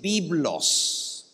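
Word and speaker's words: βίβλος: es una palabra griega en griego libro se dice byblos byblos como se dice el libro en griego biblos el plural de biblos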